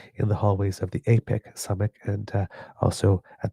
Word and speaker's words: APEC: It is definitely apec with a long a but as not aon as I've been saying for the other organization.